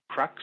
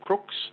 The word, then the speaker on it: Crux: for that constellation is crux or crooks if you want the correct pronunciation and then just near